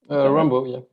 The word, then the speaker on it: Raimbault: Juste, to make sure that I pronounce the name right. Juste, is it Raimbault? Raimbault, yeah.